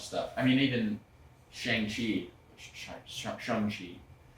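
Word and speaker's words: Shang-Chi: I mean, even Shangi Shani, it's the proper way to say it.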